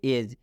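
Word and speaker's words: edge: एज। डी के बाद जी है तो इस डी का उच्चारण नहीं करना है, ये डी साइलेंट यहाँ पर है।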